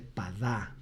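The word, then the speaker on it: פדה: Rescaten, en hebreo se dice padá, P-A-D-A-H, se pronunciaría.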